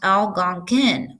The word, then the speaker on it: Algonquin: going so it says how do you pronounce Algonquin how do you spell it so how Gong Qin is pronounced Algonquin oh okay taught me something Algonquin is the